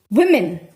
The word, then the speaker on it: women: live noticeably longer but the pronunciation changes you know woman woman man this is women the sound changes women and men man woman women men this is plural singular singular plural so your pronunciation you